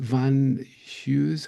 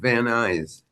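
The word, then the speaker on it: Van Nuys: Is it Van Hughes High School? Is that how you pronounce it? It's actually called Van Eyes.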